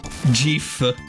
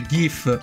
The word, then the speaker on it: GIF: dicono No dovrebbe essere gif invece lo stesso invece lo stesso autore proprio creatore della del formato gif ha confermato che si pronuncia G cioè con la G morbida perché tecnicamente sarebbe Grass